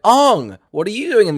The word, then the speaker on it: Aang: been saying it right i think that's famously it's aung nicole nicola or katara it's like aung what are you doing